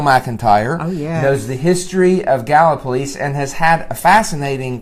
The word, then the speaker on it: Gallipolis: so I'm here in galva police as those of you who saw me all